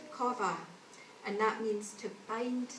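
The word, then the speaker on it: קָוָה: It's pronounced kova, and that means to bind together, perhaps by twisting.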